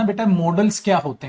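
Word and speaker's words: modals: से आप मॉडल्स बोल, बेटा मोडाल्स नहीं बोलते, इन्हें मॉडल्स बोलते हैं। क्या बोलते हैं? मॉडल्स। मोडाल्स नहीं, वैसे बोल सकते हो, लेकिन अगर इसका देखेंगे आप प्रोनाउंसिएशन मॉडल्स होता है, मोडाल्स नहीं होता बेटा।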